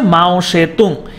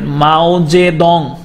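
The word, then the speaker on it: 毛泽东: 1943 সালে কমিউনিস্ট পার্টির দায়িত্ব নেন হচ্ছে মাও সেতুং। এটাকে আপনি আপনারা বিভিন্ন জায়গায় এরকমও দেখবেন, মাও জে দং। তো এটা উচ্চারণটা দুই রকমই হয়, এটা মাও সেতুংও বলে অথবা এটা মাও জে দংও বলে।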